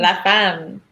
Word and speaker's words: La Femme: La Femme.